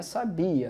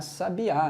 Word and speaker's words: sabia: então por exemplo ó a palavra sabia lembra que ela sabia não é sabiá recebe a está aqui